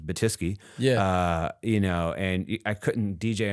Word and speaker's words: Batyske: And my last name is is I love my last name, but it's a challenging last name. It's Batiski.